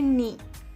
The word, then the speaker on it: knee: इसे हिंदी में कहते हैं घुटना और इंग्लिश में कहते हैं नी, KNEE। के इसमें साइलेंट है तो इसे प्रोनाउंस करेंगे KNEE, नी।